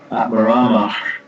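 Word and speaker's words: ātmārāmāś: But Atmaramash, that's more, we pronounce it more in the back of the mouth, open. Atmaramash chamunayo.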